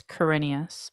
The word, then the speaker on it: Quirinius: Yes, also it is Quirinius, by the way.